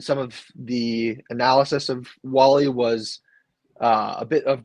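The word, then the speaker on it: Walley: But the top corner prospect that was left was Justin Wall-E, I believe, is how his last name is pronounced.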